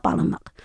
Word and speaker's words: Palemek: According to my mother, the last sound is like a glottal. So that's why I initially spelled with a Q at the end. Okay, so it's Palemek.